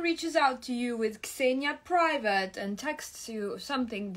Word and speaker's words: Xenia: My name is pronounced Xenia, not Xenia. Xenia. There's no Z sound. It's Xenia.